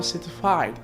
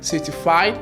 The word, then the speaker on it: certified: Ça peut être prononcé certified ou bien certified. Lorsque je le prononce certified, c'est en anglais américain. Parce qu'en anglais américain, lorsque le T se trouve entre deux sons voyelles, souvent le T là est prononcé comme T ou bien R. C'est pour ça que je dis certified.